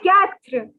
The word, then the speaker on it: quatre: Oh, four is quatre.